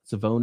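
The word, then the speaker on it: Savion: rusher maybe savone Ravel savone is how he pronounced his first name apparently he's he's kind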